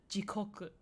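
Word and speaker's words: 時刻: So you have jikoku as in hell, and jikoku as in time. They have different pronunciations. One is jigoku with a G, go, but then the other jikoku, with a ko instead of a go.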